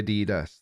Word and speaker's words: Adidas: We say Adidas. That's because that's the correct way to pronounce it.